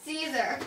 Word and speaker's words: Siser: Siser.